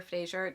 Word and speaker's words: Frasier: He's just like, yeah, people say Fraser or Frasier. It doesn't matter.